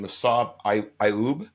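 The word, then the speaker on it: Massad Ayoob: who does your forward and forgive me the pronunciation massab iub is that right M yes Legendary Legendary and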